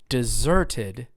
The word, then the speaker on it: deserted: that he or she deserted deserted do you notice how it's on the second syllable that mom or dad